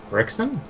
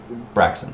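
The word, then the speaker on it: Braixen: Like, it's Brixton? yeah, Brixton. Scott, how do you say it? You're the Pokemon master. Braxton.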